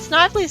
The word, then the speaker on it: Snively: Sonic sees some footprints in the swamp and goes after them, and Snively sees him on camera footage. I know it's pronounced Snively, but I'm used to saying Snively.